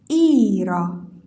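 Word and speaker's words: Ира: کلمه کلمه کلمه ایرا در صورتی که ای تکیه داشته باشه باید بلندتر خونده بشه و آ که تکیه نداره کوتاه‌تر خونده میشه ایرا ایرا ایرا ایرا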